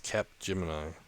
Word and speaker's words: Capgemini: Oh, I was trying to put it mini, like Cage Mini or something. No. It's got a P in it, so it's Capgemini.